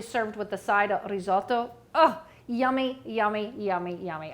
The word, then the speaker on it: risotto: you cauliflower risotto and if you can roll your r's let me know risotto all right and then